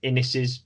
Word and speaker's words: Innes: So well, first and foremost, thanks for writing in, and thanks for putting us straight about Neil Innis's name. Then it rhymes with Guinness, it's Innis, and Innis Book of Records, incidentally, is a very good pun in that case.